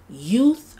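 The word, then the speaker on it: Yeouth: This is Youth, I believe it's pronounced Youth, Y-E-O-U-T-H, which can be actually found on Amazon.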